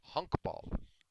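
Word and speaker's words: honkbal: it's just cracks me up and it is pronounced exactly as it said it's called hunk ball in in Holland but they have professional baseball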